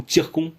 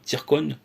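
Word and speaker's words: Циркон: Hein, sur un missile hypersonique Zircon, hein, ou Tircon, ça se prononce en russe, hein, Tircon, donc a été faite le 19 juillet.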